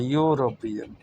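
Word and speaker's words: European: पीली colour, यूरोपियन, ई भले ही Wavell है लेकिन साउंड इसका या का आता है, यूरोपियन।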